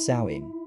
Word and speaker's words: Samhain: A night called Samhain, pronounced Samhain, celebrated over 2,000 years ago by the Celtic tribes of Ireland and Scotland.